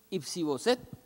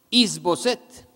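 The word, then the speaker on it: Is-boset: tiene un hijo que se llama ipsi bosset los que se pronuncian ys bosset es el hijo de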